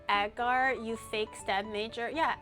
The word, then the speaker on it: agar: It's pronounced agar.